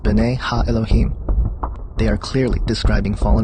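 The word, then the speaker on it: בני האלהים: of god mentioned here in the hebrew is pronounced binay ha elohim they are clearly describing fallen angels we know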